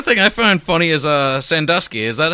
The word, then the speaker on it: Sandusky: I mean, the other thing I find funny is Sandusky. Is that how you say it? Or Sandusky or Sandusky? Yeah. Sandusky.